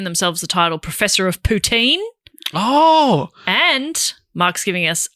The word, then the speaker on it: poutine: to give some Montreal poutine recs. The proper Quebec, how do you say that? Quebec. A Quebecois. I reckon you nailed that. Pronunciation is poutine. Poutine. Stress last syllable.